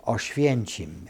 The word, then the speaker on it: Oświęcim: In the real name of Auschwitz, it sounds the German, I'm going to give it to you in Polish, is Oświęcim, and the Germans pronounce it Auschwitz.